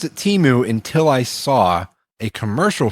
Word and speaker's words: Temu: Temu sounds like Shamu to me. It conjures a killer whale, in my opinion. But okay. Yeah, and Temu also sounds more like foreign-y, where Temu sounds fun and Americanized.